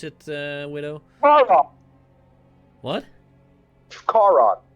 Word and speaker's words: Charon: Or Sharon, how do you want me to pronounce it, Widow? Charon. What? Charon. Charon.